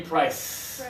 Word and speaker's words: price: So if you are a Spanish speaker, focus on the vibration. Right here. This one, no vibration. Very important to feel the vibration.